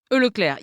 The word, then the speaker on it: Leclerc: Leclerc, is that right? Leclerc, yeah.